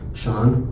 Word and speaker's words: Shaun: So I was let's create a lawn business, and my name rhymes with lawn, Shaun with lawn, and so I was what?